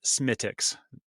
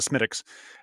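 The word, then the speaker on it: Smithwick's: that even though it's spelled Smith Wix it's pronounced smiix you know and it's usually real fast like have a smiix um if you find an Irish bar an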